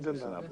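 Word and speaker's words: জিন্দাবাদ: Bangladesh Instead of Zinda, you say just Jinda. Jindabad.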